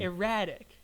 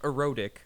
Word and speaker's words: erratic: big erratic dancing erratic I want to be clear on that pronunciation erratic erratic not erotic erratic so that we